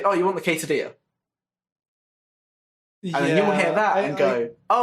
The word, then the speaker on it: quesadilla: also because in Spanish, the two L's put together is pronounced as E.